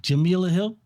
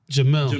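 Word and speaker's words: Jemele Hill: How do you pronounce her name? Jamila Hill? Jamel.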